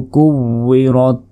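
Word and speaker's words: كُوِّرَتْ: ওয়াউজের উই, অনেকে ওয়াউজের ই বলে, এটা কিন্তু ভুল উচ্চারণ। কাফ ওয়াও পেশ কু, ওয়াউজের উই, কু উই, রত আজবর রত, কু উই রত। ইযাশ শামসু কুওয়িরাত।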